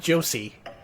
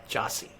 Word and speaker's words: Jossie: Not Josie. Jossie. Ah. That's spelled Jossie. Oh, so it's like Yahtzee.